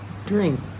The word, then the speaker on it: drink: that verse verse 54 drink I want to hear the K at the end it's not held back like in pop drink is it different